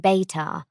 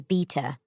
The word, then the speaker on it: Beta: It is said aloud with a long vowel as in Beitar, not as beta or better.